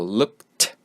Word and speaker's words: looked: So you just pronounce look and then T. So looked, looked. That's how you pronounce the past form of look.